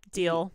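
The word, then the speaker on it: Diehl: Her name is spelled D-I-E-H-L. I'm like, deal. Deal. Let's make it's a deal. That's the Elaine same. Deal. Yeah. D-I-E-H-L. Yeah. Yeah. Yeah. That's deal. That's the same last name as Troy's orthodontist.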